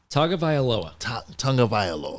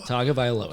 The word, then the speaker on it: Tagovailoa: How do you pronounce his last name? Tagovailoa. Tagovailoa. Tagovailoa.